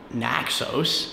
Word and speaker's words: Naxos: Trying to go to Naxos, apparently is how you say it.